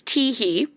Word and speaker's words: Teehee: My name's Teehee, pronounced like the giggle, and it looks like